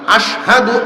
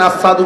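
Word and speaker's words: أشهد: আশহাদু আন্না, আশহাদু আল্লাহ, এই যে আশহাদু শিন উচ্চারণ হইত না, শিনের ক্ষেত্রে সিন উচ্চারণ করতেন, আসাদু কইতেন।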